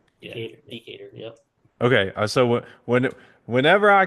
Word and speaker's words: Decatur: How do you say it? I would say Decatur. Yeah, Decatur.